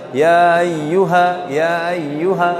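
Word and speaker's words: يَا أَيُّهَا: Kemudian ya ayyuha, sering hamzahnya dibacanya lewat aja. Ya ayyuha, harusnya ya ayyuha karena huruf hamzah ini mempunyai sifat namanya syiddah.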